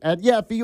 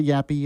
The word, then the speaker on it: Yaffee: follow me on X @Yaffee or Instagram @YaffeeLive. Yes, I'll remind you how to spell it. Y A F F E E. It's not Yappy, it's Yaffee.